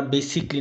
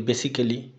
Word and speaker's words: basically: যেমন এখানে আমরা বেসিকলি না বলে বলি বেসিক্যালি, অটোমেটিক্যালি, ড্রামাটিক্যালি, হিস্টোরিক্যালি, theoretically, যেগুলো সম্পূর্ণ ভুল উচ্চারণ।